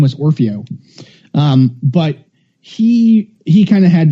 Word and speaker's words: Orfeo: I think I said his name wrong. It's all right. Have another drink, you'll remember. Orfeo.